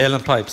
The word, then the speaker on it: uilleann: Uilleann Pipes, yeah.